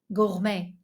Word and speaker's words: gourmet: Emily is a gourmet. Let me better pronounce it in French: gourmet.